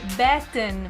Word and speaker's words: Batten: É Batten. Eu lembro do tipo Batman. Batman. Eu gostei desse seu truque, lembrar do Batman. Então, Mas você não sabe... é Batten, é Batten.